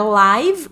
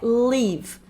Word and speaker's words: live: Pronúncia aqui não é live, é live.